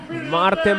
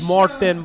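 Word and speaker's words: Mårten: Martin Bostrom finishes. Bostrom, yeah. 11th place. I like it. he wrote his name on the bib as it should be pronounced with an O. So it's Morten Bostrom.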